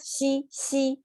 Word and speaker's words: 兮: It's, by pronounce that, xi, it gives you the sense of you're really trying to release tension because this is too much tension.